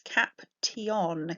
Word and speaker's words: caption: Sounds like there should be a sh diagraph in there, doesn't it? But it's caption, caption.